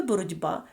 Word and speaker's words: боротьба: як парний йому з таке саме явище є у слові боротьба у слові боротьба ть під впливом дзвінкого звука б вимовляється як парний йому дзвінкий д - це зміни приголосних